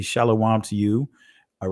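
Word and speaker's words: שלום: There were no O sounds in Hebrew. In ancient Hebrew did not have any O sounds. So when you say shalom, that is not of ancient Hebrew origin, right? That's dealing with the accents of the Europeans that have interpolated our language.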